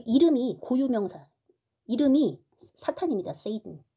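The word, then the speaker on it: Satan: 세이든 발음은 세이든 프랑스어로는 사단 이렇게 발음합니다.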